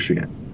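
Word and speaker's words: Xi'an: the uh clarification on the pronunciation of Shian Shian there you go I I told you guys I was going to butcher it I was going to pronounce it but I you know I don't expect you guys to do that yeah yeah we'll go with she in go with she in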